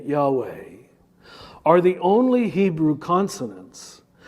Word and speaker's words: Yahweh: tongue and in fact if correctly pronounced they perfectly replicate the sound of inhalation and exhalation he did it about